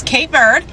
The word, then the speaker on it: Cape Verde: So, yeah, those are the two ways you could say it. You can say it in English, which is K bird, or you could say it in creu/portuguese, the Portuguese way.